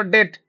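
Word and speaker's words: debt: के डेट बोली कहि परबो तुम कोन कहबो डेट B silent रहइबो डेट सर केमिति ते कहि दोना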